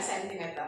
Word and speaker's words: sentimeter: C CGS centimeter gram sekon, tapi bacanya jangan centi ya, sentimeter seperti itu.